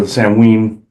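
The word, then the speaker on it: Samhain: during the sin or the Sam Hayne as people like pronounce it or Samween.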